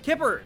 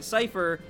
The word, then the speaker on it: cypher: I was a kid I thought cypher was pronounced kipper yeah and when I found this pronounced sea cipher I felt like an